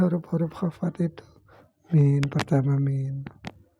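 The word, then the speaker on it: من: Faqala, maka musannif berkata, wahiyya ay huruful khabdi, dan dia huruf-huruf khafat itu min, pertama min. Bagaimana cara membacanya? Bikasril mimi, dengan kasrah mim.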